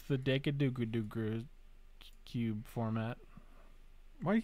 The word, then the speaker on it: Dekkaru: You pronounced it right the first time. What did I say the first time? Dekkaru.